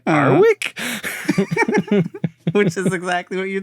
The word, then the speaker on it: Warwick: The W is silent because they're saying Warwick, and they say Arwick.